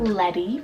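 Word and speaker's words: Ledi: I then have Letty for the girls side, L-E-D-I, Letty.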